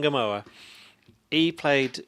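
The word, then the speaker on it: Ngumoha: Is that how you pronounce his Ngamoa, name? yeah. Ngamoa.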